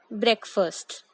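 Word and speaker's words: breakfast: खाया तो इसी में बट बोला गलत। वी से इट एज ब्रेकफास्ट।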